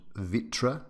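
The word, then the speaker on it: Vitré: in Brittany France called Vitra I think I'm pronouncing it fairly correctly VI TR e so what struck me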